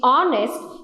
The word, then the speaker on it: honest: n e s t where the h is silent similarly when you talk